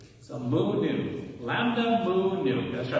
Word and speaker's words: nu: Nu. Yeah, so the mu looks like a U, and the V is like an N sound, right? So mu, nu.